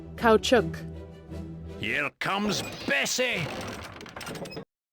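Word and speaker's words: Caoutchouc: Engineers no I definitely didn't have to look up on Google how to pronounce that cow chuk Here Comes Bessie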